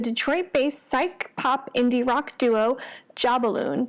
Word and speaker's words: Jobbaloon: I am your host Jeanette and I am excited to chat with you today about the Detroit duo Jobbaloon (pronounced ‘JAH-BALLOON’).